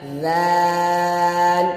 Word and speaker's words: ذال: 4 الف کھینچ کر پڑھیں گے۔ دال دال ذال ذال ذال ذال۔ ناظرین، ذال کو بھی 3